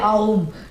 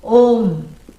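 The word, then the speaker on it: ॐ: A, U, But you're not supposed to say like that. No. Unless you have TMJ. If you have some kind of jaw problem, then people will say Aum. Nobody should say Aum. Yeah, that's wrong. You should never come in between the words which are joining to make a new syllable. A plus U, O, Om. And neither should you drag it.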